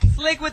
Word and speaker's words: Slique: his name slick slick slick with the Q the Q silent s l i q u e yeah slick slick like oil slick slick yeah that's it